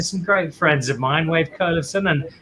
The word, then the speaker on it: Wayve Kolevsohn: great friends of mine wave curlerson which is how they pronounce it in chile from element house and